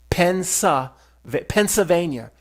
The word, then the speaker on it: Pennsylvania: Say it like me, Pennsylvania. There's no L. So just say it like that.